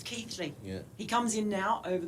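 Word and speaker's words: Keighley: I first came over I used to call Keely before I realized it was Keithley he comes in now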